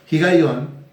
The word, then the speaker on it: Higaión: Y el término Higaión o Higaión, como tratando de hacer sonar la H, Higaión, que significa meditación.